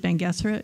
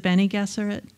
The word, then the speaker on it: Bene Gesserit: was huge for me and that I always pronounced it bangerra is it Bene Gesserit yeah so yeah it's all about that the